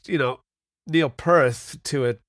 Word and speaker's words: Peart: It's got an ear sound because that's what Mike Portnoy taught me. Okay. That Mike Portnoy has a fun story where he was saying his name wrong for years, and then finally Neil corrected him himself and says you have to make sure you emphasize the ear sound.